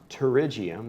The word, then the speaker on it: pterygium: It's pronounced pterygium. The P is silent, like in pterodactyl.